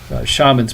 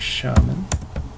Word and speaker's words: shaman: an h or the the s is pronounced like an sh so then if we